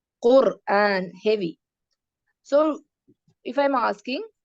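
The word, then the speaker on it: قرآن: റോ അക്ഷരത്തിന് സുക്കൂൻ വരുമ്പോൾ തൊട്ടുമുള്ള അക്ഷരം ദമ്മ. So this is heavy. Quran, heavy.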